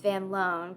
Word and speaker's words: Van Loon: man named hendrik vilhm Von loone uh I'm only saying Von loone um because uh Rebecca you found out that the Dutch pronunciation is Van loone but the English pronunciation is Van Loon and he said it